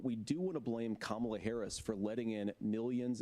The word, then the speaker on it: Kamala: to for be some Kamala. confusion about this. Let me clear this up right now. Her name is Kamala. Hey. It's not Kamala, no, her name is Kamala. Emphasize the first syllable, it's Kamala.